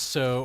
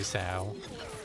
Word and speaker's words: Sal: ago, Redfin Pike, but do you pronounce Sal with anything as so or rhyming with cow? Probably. I mean, it depends. Sometimes I say so, and sometimes I say sow. You know, tomato, Yeah, same tomato. here. Potato, potato. Exactly. What's up, Claxton? Rhymes with cow and anything else is wrong.